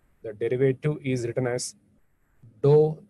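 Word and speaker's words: ∂: We pronounce this as dou z by dou x. And some people may read this as, pronounce this as del z by del x, like this only.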